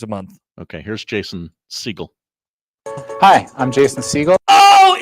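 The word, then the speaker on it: Segel: His name is not Jason Segal. It's Jason Siegel.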